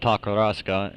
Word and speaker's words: Takarazuka: went up to uh takarazuka that's pronounced pronounced takarazuka and uh rasuka t-a-k-a-r this is the uh